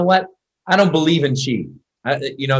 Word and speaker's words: qigong: what is that word q-i-g-o-n-g you know no chi means energy so it really is a word